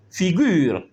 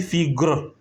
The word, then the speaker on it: figure: donné un exemple ici on a dit figure on n' pas dit figre parce que selon ce